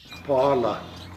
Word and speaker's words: paala: Paala. For slug. Paala. When you say that, you have to kind of go like paala.